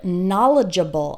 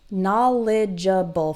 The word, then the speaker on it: knowledgeable: ja Baal okay and the stress is on the first syllable na na Leah bull